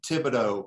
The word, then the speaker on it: Thibodeaux: director of ballet magnificat thibodeau welcome thank you jeff you pronounced my name right first came to